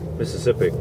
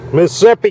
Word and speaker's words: Mississippi: Real, Mississippi.